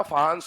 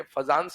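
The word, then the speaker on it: Fajans: फहान्स rule है ना। ये फजांस नहीं होता, फहान्स रूल होता है, बट ठीक है, स्पेलिंग के हिसाब से फजांस रूल बोल देते हैं, ठीक है।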